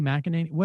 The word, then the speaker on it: McEnany: Kayleigh McEnany. How do we say her name? I think you got it that second time. Kayleigh, yeah. Kayleigh McEnany.